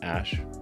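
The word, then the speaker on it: Æ: letter x and then the ae is like pronounced ash yeah and then uh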